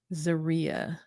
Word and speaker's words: Zeruiah: What is silent? Zeruiah. No, the U is silent.